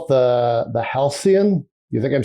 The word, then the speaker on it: Halcyon: This is they call it the Halcyon. You think I'm saying that right? Is it pronounced like the word, or I don't know if they have a special bespoke pronunciation?